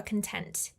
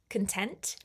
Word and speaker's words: content: Be careful with the pronunciation of of content because it's very different to content. When you place the emphasis on con, you're talking about posting on social media.